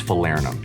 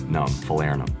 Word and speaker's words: Falernum: The next liqueur we think should be a staple behind your bar is Falernum, and that's how you pronounce it. Falernum.